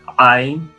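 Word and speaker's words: עין: A letra Ain, que ela originalmente é uma letra gutural, né? Ain, pronunciada a partir da garganta, Ain, mas que hoje também esse som já não é tão comum.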